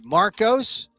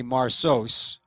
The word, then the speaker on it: Marcos: top of my head I'd say Marcos m-a-r-c-o-s but if you had a problem if you'd never say marsos oursos you wouldn't spell m-a-r-k-o-s Marcos but you know in